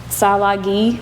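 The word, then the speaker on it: Tsalagi: Salagi, which is how they pronounce Cherokee.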